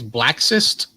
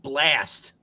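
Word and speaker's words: BLXST: up i think it's black cyst it's actually pronounced blast okay l x s t they're using the x like an a it's pronounced blast why go to war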